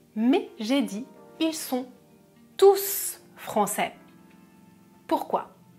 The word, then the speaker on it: tous: souvenir de cette règle quand il y a un nom c'est non je ne prononce pas le s par exemple tous les